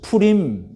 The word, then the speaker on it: 푸림: 부임은 무슨 뜻이냐 아 히브리어로 푸라 뜻인데요 그래서 푸림 이렇게 발음이 됩니다 에스더서 3장 7절에이 하만이라는이